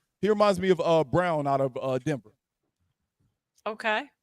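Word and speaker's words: Braun: off their bench yeah he doesn't spell it like brown but it's pronounced Brown yeah he reminds me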